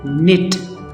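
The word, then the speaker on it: knit: इकट्ठे नज़र आएंगे, लेकिन यहाँ पे K साइलेंट होगा और N की ही साउंड आएगी, साउंड आएगी। जैसा कि ईट, निट, इसे आप कनिट नहीं पढ़ेंगे।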